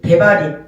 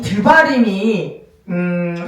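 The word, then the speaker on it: דברים: 드발림 대바림 상관없어요. 예. 그런데 어이 드바림이음 좀 어려운 그 내용일 수 있어요.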